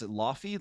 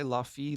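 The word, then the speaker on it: Laufey: Lafy. L A U F E Y. Lafy. Leafy.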